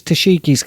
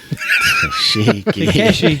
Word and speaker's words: Takeshi: I wonder, did he walk into his cell saying, this is Tashiki's castle? Takeshi. Tashiki. And his name is the same as Takeshi, like as Yeah. Takeshi's castle. Or Like, I pronounce it Tashiki.